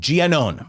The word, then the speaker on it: Giannone: Oh, Jeannie gave me a correction of how I'm supposed to pronounce Giannone. No E at the end. Giannone.